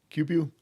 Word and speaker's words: Cubu: Uh, is it is it pronounced Cubu? Cubu. Yeah, it's just the first two letters of my first name, first two letters of my last name.